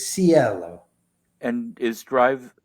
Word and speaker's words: Cielo: Some people pronounce it Cielo. It's like that's how it's pronounced in Italy, but it's Cielo.